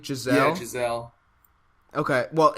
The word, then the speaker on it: Giselle: Okay, well, it's spelled with a G, so I wasn't sure how to pronounce it. Well, no, it's you pronounce it like Giselle because, like, Tom Brady's wife. No. You know. No, I know. I didn't know if it was Gazelle. No, it's Giselle.